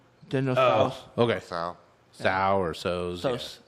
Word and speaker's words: Tso: As I understand it, the T is silent. General Tso's.